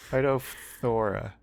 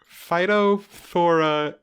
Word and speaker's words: Phytophthora: That's not pronounceable. Put it in the thing. Put it in the chat. Phytophthora. Phytophthora infestans, which is a much easier thing to say.